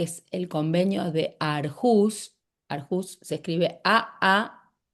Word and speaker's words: Aarhus: el Convenio de Aarhus, Aarhus se escribe a a e r h u s, Aarhus se debe pronunciar diferente en nórdico, pero yo le digo Aarhus que es como se lee.